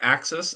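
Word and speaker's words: AXYS: That's the same same at um uh Axis. Is that how you pronounce it? It's pronounced Axis and it causes no end of confusion, but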